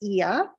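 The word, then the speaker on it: Oia: of eia it's spelled o i a it's pronounced eia it's the northern part of Santorini um it's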